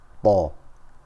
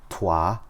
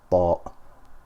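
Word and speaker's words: ط: we keep our tongue, we stick our tongue to the roof of our mouth when pronouncing these letters, and we maintain the pressure. Okay, we keep it tight. So Ta, that way we will not pronounce Twa or Ta.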